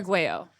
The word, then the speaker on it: Arguello: Arguello. That's what I thought. Yeah. Yeah. Yeah. But And a lot of people do hit that hard L, don't they?